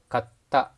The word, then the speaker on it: katta: But take a look at this, katta, katta, which means bought.